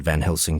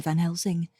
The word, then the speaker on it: Van Helsing: or van helsing's name she's been pronouncing it with a z i do not know jeff may end up making the decision that it's perfectly fine sometimes people do pronounce s's as z's but that's not typically the way his name has been pronounced so i'm marking it